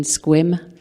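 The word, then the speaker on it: Sequim: Cocoa, Florida, Dale in Lake Stevens, Wendy in Squim, and if you're just new to this part of the world, that's how they pronounce it.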